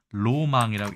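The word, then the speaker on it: ロマン: 자 그러면 일본어 볼까요 일본어는 뭐 볼 필요도 없죠 로망이라고 해서 낭만을 로망이라고 읽고 roman 혹은 로맨스가 되겠지만요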